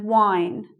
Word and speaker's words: whine: So we've got 2 words here, wine and wine. One's spelt with WH, one's just spelt with I, but they sound the same.